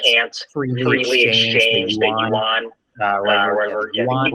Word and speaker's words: yuan: Yuan, I believe it's pronounced. Yeah, I think it's yuan.